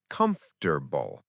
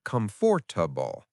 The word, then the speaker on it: comfortable: For example, some people have trouble with the word comfortable. It's actually pronounced comfortable, not comfortable.